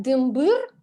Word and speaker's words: дымбыр: Когда они вместе дымбер-шалтер, они с ударением на первый слог. Но когда они в одиночку стоят, дымбыр и шалтыр, то есть мы их воспринимаем как самостоятельные слова и их ударение на последний слог.